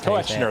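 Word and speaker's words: Koechner: Um I could be wrong, but I feel like that's when is it Kekner? I can't remember how you say his name. Coexner, I think is coexnner. That's it. Yeah, the traditional pronunciation.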